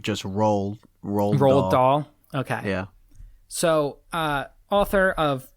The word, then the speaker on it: Roald Dahl: I thought it was like just Roald Dahl.